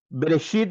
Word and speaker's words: Bereshit: En el hebreo lo leeríamos se pronuncia como Bereshit bara Elohim.